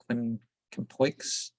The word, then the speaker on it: Quincampoix: Quincampoix. I think you don't pronounce the X.